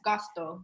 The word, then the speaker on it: Gosto: Is it Gosto? Yes, Gosto. G-O-S-T-O. Okay. And I love the symbolism that you use in the word. And can you talk a little bit about that brand? I think for Gosto and also for Bittis woman brand that we